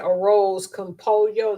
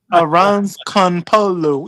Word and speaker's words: arroz con pollo: Because I said arroz con pollo. They like, that ain't how you say it. Okay. Arroz con polo.